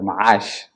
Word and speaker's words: Macaash: I really appreciate uh Makash Investment or Mahash in in a in a Somali pronunciation is a a multi-disiplinary company and we deal with a very diversified uh business.